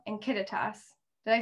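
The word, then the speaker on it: Kittitas: sorry count um yeah the yakima yakima and kittetas did i say it right you did you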